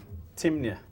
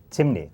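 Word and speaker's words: Temne: among the people uh that known as timy Tim timy t m n e t m t e m n in caraku they pronounce it Tim uhh but it's timy in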